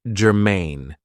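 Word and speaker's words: germane: So, the first adjective I have for you is gerine. Now, this is two syllables and the stress is on the second syllable.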